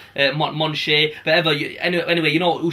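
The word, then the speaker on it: Michonne: It's weird because obviously you're reading a comic, so you can only say it how you say it, and I always felt like Moneke or something. But then when we looked at online, it's like Monche.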